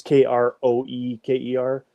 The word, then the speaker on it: Kroeker: It's k r o e k e r, but it's uh pronounced Kroeker. That's how we say it in Manitoba.